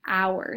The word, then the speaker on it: hour: words like this, but the sound we make when we say it starts with a vowel. Hour. It starts with an O-W essentially, phonetically.